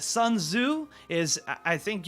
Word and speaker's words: Sun Tzu: we got our man son to zoo i i know i pronounced that wrong it's sun tzu is i think you don't pronounce the t in that you actually pronounce the zu so this guy right